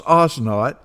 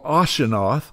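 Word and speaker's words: Asenath: that her name was osot or aseno depending on whether it's pronounced from an Egyptian or Hebrew perspective her name in Egyptian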